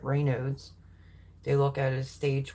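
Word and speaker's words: Raynaud's: have Rod rain noes I was corrected on how to pronounce that Ray noes they look at as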